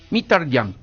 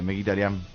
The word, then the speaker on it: Mkhitaryan: En verdad es Mkhitaryan, pero no sé cómo se pronunciará en su país. Se pronunciará en su país, ¿viste? Allá debe ser diferente. Pero como es conocido internacionalmente es Mkhitaryan.